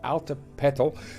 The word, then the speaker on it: Altepetl: He said, hey, you should name the city Altepetl, pronounced Altepetl. It's Aztec for water mountain. So this is now Altepetl city.